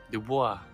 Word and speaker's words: Dubois: Yes, the computer said it right. Dubois.